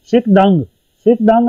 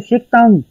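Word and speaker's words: 식당: उसके बाद शिक दंग है लिखने में, लेकिन जब आप इसे प्रोनाउंस करेंगे तो शिक तंग, शिक तंग।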